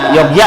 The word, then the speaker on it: Yogya: Yogya sebenarnya Yogya. Yogya. Ya, bukan Jogja, bukan Cuman J. karena ejaan Betawi Jogja aja. Bukan ejaan Betawi, orang sekarang. Karena tulisannya J sebenarnya itu Y.